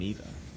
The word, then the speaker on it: Eva: Of course, another early NPC that you may encounter is Madame Eva, or Ava, depending on how you say it.